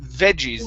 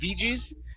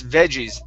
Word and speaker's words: veggies: First up, this word is pronounced veggies instead of veggies. It's veggies. That is short vegetables. Okay, Veggies. so let's try Veggies. that. It's just short E.